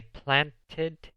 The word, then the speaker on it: planted: I planted flowers yesterday. En este caso, sí se pronuncia la E en la ED porque el verbo básico plant termina en una T.